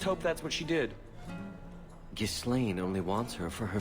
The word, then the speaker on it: Ghislaine: You think she left Ghislaine? Did she tell you she left her husband? No, I just hope that's what she did. Ghislaine only wants her for her family's wealth.